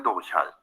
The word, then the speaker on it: durchhalten: er das nicht lange durchhalten. Je länger ein Gespräch dauert. You saw the stress? Durchhalten. So stress on the first syllable means it's separable.